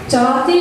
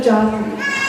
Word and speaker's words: Jati: Jati in Bharatanatyam, pronounced with a small a, are Sulu Keptu, used to count rhythmic patterns in Indian classical dance.